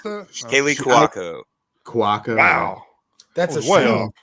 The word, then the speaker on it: Cuoco: Is that how you pronounce that? Kaylee Cuoco.